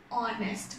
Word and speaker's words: honest: here here also and honest man okay so h is silent and we are considering